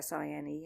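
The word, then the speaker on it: Sìne: It's Sine, and there's an accent on the I.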